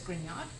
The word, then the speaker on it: Grignard: Forgetting, of course, that they may not recognize that you pronounce this as Grignard.